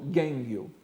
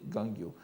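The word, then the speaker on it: 元暁: n'est-ce pas, Wonyo, Gangyo, prononcé Gangyo en japonais, et dans les traditions des manuscrits du Senjusho, on donne souvent la lecture Gengyo, mais la lecture courante est Gangyo.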